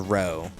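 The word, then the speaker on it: roux: I made the um, it's a riches like row, right? Like X is silent and Uh, or however you spell it.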